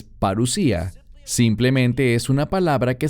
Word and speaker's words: parusía: es la palabra parusía algunos la pronuncian parussia pero es parusía simplemente es una palabra